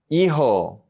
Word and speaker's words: hijo: La J en español sounds like the H in English. So we say mejor, mejor, better, mejor.